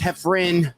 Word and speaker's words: Heffron: One is pronounced Heffron, but spelled Heffron. The other one is Reep, spelled Reep. We got a big show.